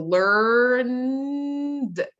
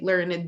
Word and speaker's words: learned: can pronounce R so learned again learned learned okay you don't say learn it don't add it learned people mispronounced show